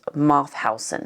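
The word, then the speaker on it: Mauthausen: another including ashoz and I believe it's pronounced moth Housen so you can probably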